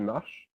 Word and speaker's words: marches: Notice that es is pronounced just like the e. The s is not pronounced, so it's just tu marches.